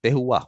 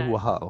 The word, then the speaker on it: terroir: Tehua. How do you pronounce it? Terroir. It's Tehua. French. I like that. Yeah. Tehua.